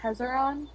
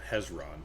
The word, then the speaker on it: Hezron: Would you know an elemental named Tzeron?" I'm speaking in Silvin. Okay. Um, she looks from Vald to Clappy. Hello. What What's the name that you just said? I hope you're pronouncing that. Uh, Hezron is the Hezron.